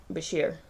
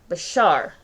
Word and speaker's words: Bashir: going over bashir and okay i've been saying it wrong good to know bashar all right sorry yeah i'm probably because i was thinking as a more common pronunciation of that combination bashar okay so we got